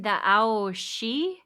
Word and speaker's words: Aos Sí: Yeah, they called them the Aos Sí. I don't My pronunciation's not great. My Celtic pronunciation, but it's A O and then S I with like a an accent over the top of the I.